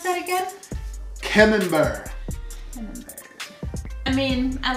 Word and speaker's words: Camembert: All right, next we got the, how do you pronounce that again? Camembert.